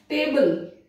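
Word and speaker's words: table: कैसे, बिफोर, देखिए यहाँ पे ई का कोई उसको प्रोनाउंस नहीं किया जा रहा है, टेबल, टी ए बी एल ई, टेबल, एल he pronounce हुआ, ई प्रोनाउंस नहीं हुआ।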